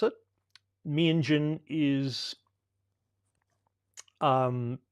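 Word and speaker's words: Meanjin: Menjen is um closer to the indigenous pronunciation.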